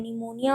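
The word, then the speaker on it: pneumonia: कैसे लिखते हैं, NEUMONIA, निमोनिया, और P साइलेंट होता है, निमोनिया।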